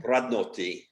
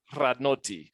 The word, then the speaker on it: Radnoti: Radnoti. You got to roll the R. Radnoti.